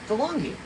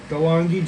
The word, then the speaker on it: Dahlonega: Spell it again. Dahlonega. So it's DeLonghi. DeLonghi? Yeah. DeLonghi, Georgia.